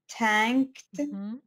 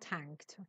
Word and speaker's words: thanked: Thanked, not tanked. Mm-hmm. Okay, tank is this. Mm-hmm. It means something else, tank. Mm-hmm. But this one is thank.